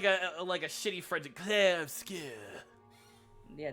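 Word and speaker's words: Clair Obscur: It's like I'll just say it like a shitty French, Claire Obscure. Yeah, that sounds very Americanized since the game is technically French based.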